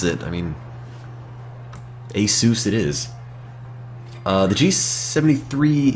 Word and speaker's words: Asus: and ever there is no time limit it's pronounced Asus I always thought it was Asus but after hearing people that work from the company pronounce it I mean Asus it is uh the g73 is the first